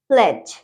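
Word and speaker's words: pledge: Okay, next है हमारा fridge, इसमें भी डी साइलेंट है। ठीक है, नेक्स्ट है हमारा प्लेज। प्लेज, ओके, नेक्स्ट है हमारा एज।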